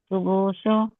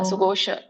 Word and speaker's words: ಸುಘೋಷ: ಯುಧಿಷ್ಠರಹ ಯುಧಿಷ್ಠಿರಹಲ ಸಹದೇವಸ್ಯ ಸುಘೋಶೋ ಮಣಿ ಸುಘೋಶೋ ಅಲ್ಲ ಸುಘೋಷ ಸುಘೋಷ ಸುಘೋಷ